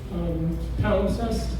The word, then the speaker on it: palimpsest: There's a word that I'm going to mispronounce. Feel free to correct me. Palimpsest.